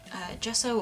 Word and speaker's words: gesso: Some people use something called gesso or gesso, depending on how you want to pronounce it.